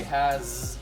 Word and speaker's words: has: Now, the reason this is a sight word is because if we sound it out, it's actually has. It is not has. We say has with the Z sound at the end.